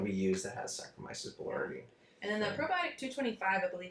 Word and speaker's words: boulardii: Other ones, let's see, Saccharomyces boulardii.